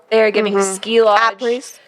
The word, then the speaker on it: après: Apres. Wait, how do you say that? I was thinking après. It's French.